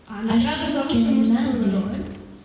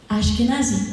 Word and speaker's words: Ashkenazi: The award for best male role, actor Leo Ashkenazi. Leo? Ashkenazi, I said it right.